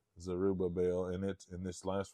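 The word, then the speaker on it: Zerubbabel: I have well I'll tell you how to pronounce that it's zerubba bell zerubba bell zerubba bell and it and this last one is a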